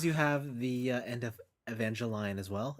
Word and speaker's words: Evangelion: Evangelion. That's the proper pronunciation of that show.